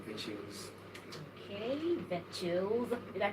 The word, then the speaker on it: Vechillz: Okay, Vetchils. Did I pronounce it very well? Yeah, Vechils is the name.